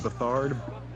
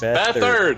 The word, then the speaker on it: Beathard: Is it Bethard? It's Beathard. Beathard. Oh, This is the second game with this man at quarterback. You still don't know how to say his name. Can you say it one more time? Beathard. Bethard. Like It don't feel kind of right. like Clifford, but Beathard.